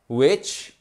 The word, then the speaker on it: which: Ensuite, which. Là, on prononce le W.